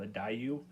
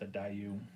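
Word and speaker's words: Daiyu: I think it's called a Dayu. I think that's what it's. I think that's how it's pronounced, a Dayu.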